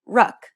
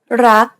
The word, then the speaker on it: รัก: to say this, however, they would tend to say something like ruck. It's a natural habit to release the final consonant sound. In order to pronounce this word properly, however, you want to stop just as the back of the tongue contacts the roof of the mouth. Never release the air of final consonants in Thai words.